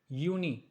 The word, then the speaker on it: Juni: June, it's like Juni, and the spelling is like Juni. As I told you at the very beginning that the sound of J would change into Y. That means year. Juni, July, Juli, Juli, Juli.